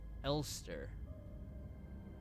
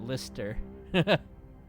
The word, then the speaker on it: Elster: Oh, they pronounce it Elster. I've been pronouncing it Lister.